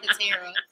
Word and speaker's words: Katera: See, well, everybody calls me right. both, and I answer them both, but it's pronounced Katera.